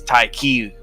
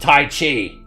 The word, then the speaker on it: Tai Chi: have any casualties because Tai Ki was on our side. Jurgle clearly had no room for us in his domain. You know Tai Chi? Tai Ki. I believe it's pronounced Tai Chi.